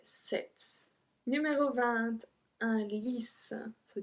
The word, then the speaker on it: sept: So it's the same thing that 20, we just don't pronounce P. 7. So we don't say sept, we say 7.